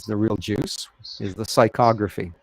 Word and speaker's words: psychography: real juice is the psychography it's a p it's a silent p and i love that's